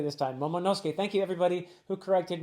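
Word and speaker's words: Momonosuke: Momoske. Thank you everybody who corrected my pronunciation of Momoske.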